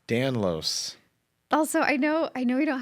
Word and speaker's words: Danlos: Danlos. Danlos.